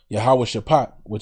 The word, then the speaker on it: Yahweh Shaphat: I will also gather all nations and will bring them down into the valley of Yahweh Shaphat, that's how you pronounce that in the ancient Paleo Hebrew. Yahweh Shaphat, meaning the Most High's judgment, and will plead with them there for my people.